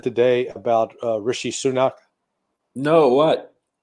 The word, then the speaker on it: Rishi Sunak: And by the way, did you hear what Biden said today about Rishi Sunak? No, what? He called him Rashid Sunak. I mean, he Oh God, completely butchered the name.